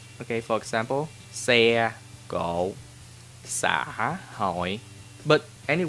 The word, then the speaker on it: xe: Consonant that start with X is pronounced S, as in sun or Sunday. Okay, for example, xe, cộ, xã, hội.